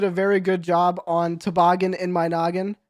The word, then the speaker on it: Toboggan in My Noggin: very good job on Toboggan in My Noggin. Is that how you say it? Toboggan in My Noggin? Okay, perfect. No, it's Toboggan. actually, sorry, it's Toboggan in my naggin. No Sorry. Baltimore accents.